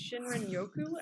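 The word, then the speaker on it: 森林浴: Japan is where it came from I'm gonna mispronounce this but it's shinrin Yoku I believe in Japan and um there's all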